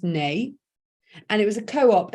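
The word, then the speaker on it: Nuy: So it's spelt new, pronounced nay, and it was a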